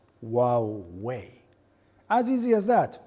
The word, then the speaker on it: Huawei: of our company properly some people call us hawaii this is lovely but that's kind of an island we are pronounced wow way as easy as that huawei okay you cannot say